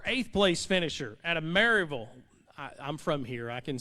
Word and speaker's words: Maryville: Our 8th place finisher out of Maryville.